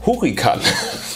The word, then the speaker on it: Hurrikan: Die heißt Wie spricht man Hurricane auf Deutsch aus? Hurrikan.